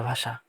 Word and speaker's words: ভাষা: মূর্ধন্য ষ মূর্ধন্য ষ বর্ণ এর উচ্চারণ তালবস্যের মতো হবে, মানে তোমার মূর্ধন্য ষ থাকলে তালবস্য উচ্চারণ হবে, যেমন ভাষা, ভাষা উচ্চারণ হবে ভয়কার তালবস্য একাশে ভাষা।